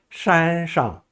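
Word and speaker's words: 山上: 山上 할 때 혀를 고부리고 권선으로 발음합니다. 山上一只虎.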